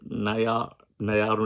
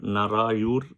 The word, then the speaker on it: Narayur: And it is called Thiru Naya Nayaru Nambi temple. I'm sure saying it wrong. It's called Thiru Narayur Nambi temple.